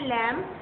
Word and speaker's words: lamb: उसी तरह LAMB इसको बोलते हैं लैम्प. तो B नहीं बोलते, हम खाली लैम्प बोलते हैं.